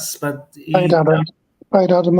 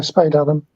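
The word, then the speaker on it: Spadeadam: How do you pronounce that? Spade Adam or yeah, Spade Adam.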